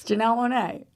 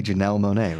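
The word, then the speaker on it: Janelle Monáe: God dang it now that you're saying it over and over again Janelle Monet you're sure it's got to be Janelle Monae right yeah we just know somebody named Jo Joel and I've been saying it wrong we know what Jo Janelle we know Jo Janelle mon you been saying Janelle I have been you sure okay Janelle Monae my bad well if you haven't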